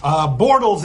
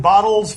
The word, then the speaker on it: Bortles: stinking with break bottles bortles is his name he continues to pronounce it bottles for reasons that are